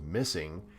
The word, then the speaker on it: MSSNG: play alluding to what mssng or pronounced missing claims is a nod